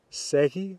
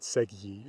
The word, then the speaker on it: segi: because of the j so you're going to get ek segi remember that j will disappear before eyes so it's not segy or something like that and now